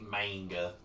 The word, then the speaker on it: manga: I love mangoes yeah the Japanese aids are pronounced with a as a aah like a manga I see so I'm